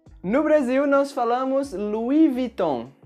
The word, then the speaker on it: Louis Vuitton: Louis Vuitton. No Brasil, nós falamos Louis Vuitton. Bastante parecido com a original, mas algumas pessoas pronunciam a primeira palavra como o nome Louis.